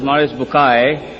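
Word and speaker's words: Maurice Bucaille: scholar of quran dr maurice bukhail pronounced as maurice bukai am i right doctor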